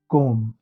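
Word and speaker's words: comb: और दूसरा रूल है जो बी आफ्टर एम, अगर बी एम के बाद आए, एम बी, तो ये साइलेंट हो जाता है। जैसे डम, कोम।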